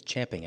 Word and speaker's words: champing: It's not chomping at the bit, it's champing at the bit, and I'm supposed to say it correctly because he always corrects me when I say it wrong.